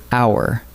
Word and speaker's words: hour: Take the word hour. We write it with an H, but the H is silent, so hour opens with a vowel sound.